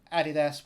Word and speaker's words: adidas: ads they join ford adidas which is how it's pronounced here in the uk hp coca-cola unilever and